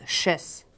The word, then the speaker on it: sèche: tes croissan sont chess ben c'est sèche mais on le prononce chess ok tout le monde